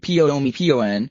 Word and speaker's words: Bhumibol: world's longest reigning monarch King womble pronounced pio pio an was an accidental monarch